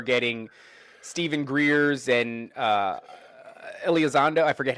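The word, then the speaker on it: Elizondo: We're getting Steven Greers and uh Elazando. I forget how you pronounce his name. Um but he's Alzando.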